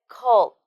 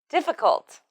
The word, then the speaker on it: difficult: yeah that's it next van missed the ending sound T in difficult it's notal please remember that this word has a t sound at the end so don't forget it t t def difficult difficult yeah right one